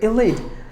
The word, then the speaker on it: elite: Talk about the word elite, and this word begins with the letter E, but when it is pronounced like elite.